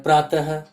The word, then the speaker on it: प्रातः: तो हम अभी देख रहे हैं कि बोलते समय विसर्ग जो है ह का उच्चारण निकल रहा है, प्रातः, शनैः। तो ऐसा लगता है कि बोलते समय हम प्रातः के अंत में ह और शनैः के भी अंत में ह का उच्चारण कर रहे हैं।